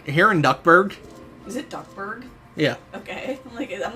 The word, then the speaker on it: Duckburg: Is it Duckburg?